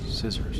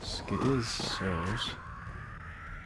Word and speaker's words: scissors: You're not even pronouncing the C. Right? Instead of saying skizzers, or the O makes the O sound, so really technically it should be skizzors.